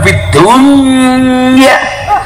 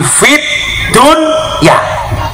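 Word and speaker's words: في الدنيا: Dan yang perlu diingat, coba Anda baca, Rabbana atina fid dunya, dibaca idhar, bukan fid dunya, tetapi fit dunya.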